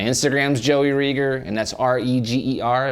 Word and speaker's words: Reger: Joey rer and that's r e g e r it rhymes with eager so it's eager Reger